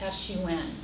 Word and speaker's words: Sun: Chen, C-H-E-N, and then there's Sun, which is S-U-N, but it's pronounced Sun.